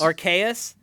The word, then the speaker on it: Arceus: um pokemon legends arceus rks archaius aka that's a hard c believe it or not